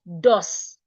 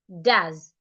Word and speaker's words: does: you're good to go o s is rightly pronounced does d does not dos the S sounds like Zed and of course the o e there sounds h doz that sound that you should not open your mouth wide to pronounce doz so how do you